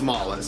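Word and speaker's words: Mallus: he was pronounced malice he was pronounced malice Moll Molly is there are so many different pronunciations but I'm pretty sure that correct announcer nation is malice as I kept saying throughout the show now Mallis was like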